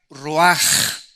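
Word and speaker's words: רוח: Esta palabra vientos es la palabra hebrea roach, que se pronuncia roaj. La ch en el hebreo se pronuncia como J.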